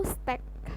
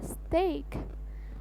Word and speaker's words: steak: memesan steak nih Hai atau stek salah ya stick dan stek itu adalah salah yang benar adalah steak Ok lanjut e Hai Nah